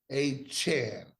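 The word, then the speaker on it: Achane: the performance he had is Devon a CH a Chan a a Chan c h an not a chain he ain't Two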